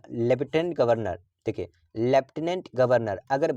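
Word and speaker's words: Lieutenant: पूछा जाता है तो याद रखिएगा लेफ्टिनेंट का स्पेलिंग होता है एल आई ई यू टी ई एन ए एन टी इसको क्या पढ़ते हैं लेफ्टिनेंट पढ़ते हैं क्या पढ़ते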